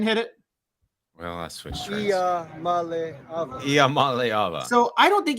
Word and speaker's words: Iamaleava: I just pronounce it like this. Iamaleava. Iamaleava. I got it. Iamaleava.